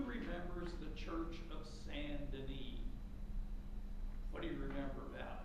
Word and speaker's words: Denis: That was the church that Abbot Suger, spelled like sugar, with an E, and Saint Denis, spelled like Dennis with one N, but pronounced Denis.